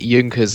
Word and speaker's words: Junkers: Hello, or Junkers, that's how you pronounce it, because it's a German name, but... Sorry, Junkers, I'm so sorry. Uh, I love yeah, this voice. but yeah, it's all good. Junkers will do, that's what most people say.